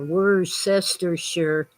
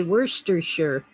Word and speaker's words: Worcestershire: it was worcestershire or were sister sure but you know it comes from england and the english say worcestershire and we often said shire instead of sure on the end you see english people